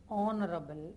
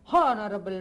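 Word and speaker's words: honourable: இப்போ இந்த இடத்துல ஹெச் சைலண்ட்டுங்க. நீங்கள் ஹெச் உச்சரித்து தான் ஆகணும்னு ஒரே காலில் நின்னீங்கன்னா அப்புறம் இங்கிலீஷ் தப்பாக போயிடும். எப்படி? அண்ட் ஹானரபிள் மேன் and hour. அப்படின்னா பயந்துருவான் இங்கிலீஷ்காரன், அப்புறம் இங்கிலீஷை படிக்க முடியாது. அதனால் எப்படி சொல்லணும்? அண்ட் ஆனரபிள் மேன் அண்ட் ஆர்.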